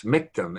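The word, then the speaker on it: Michtom: couple named rosen morris miktom m-i-c-h-t-o-m russian rhymes with victim and they ran uh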